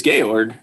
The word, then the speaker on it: Georg: but it's so great it's not pronounced george that's what you guys are saying believe he's from new york he was from vienna so i believe it's gay org like in the sound of music gayor that is totally